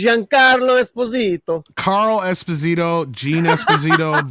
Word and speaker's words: Giancarlo: It's Giancarlo Esposito.